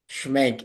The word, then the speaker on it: Schmenk: Sam and by the way I haven't even schank is how you pronounce your last name right okay yeah yeah